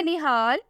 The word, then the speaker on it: Nihaal: नाम है निहाल, स्पेलिंग है NIHAAL।